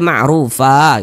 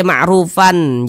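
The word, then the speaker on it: معروفة: Mad iwad nah sehingga cara membacanya itu kita baca marufah gitu tanda baca tanwinnya dihilangkan menjadi tanda baca fathah dibaca marrufah jangan dibaca marrufan jangan tapi dibaca marufah begitu tapi ini terjadi kalau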